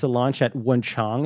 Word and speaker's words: Wenchang: How do you spell it? I'm going to pull it up. W-E-N-C-H-A-N-G.